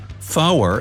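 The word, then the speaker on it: four: Tree stands for 3, fower is 4, fife is 5, and niner means 9. No, your captain doesn't have marshmallows in his mouth. Such pronunciation helps to avoid radio miscommunications and the confusion caused by similar-sounding numbers and words.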